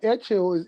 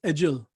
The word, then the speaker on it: Edghill: E, like the real spelling is Edghill, and Oh, it's okay. Scottish, and it's Edgehill.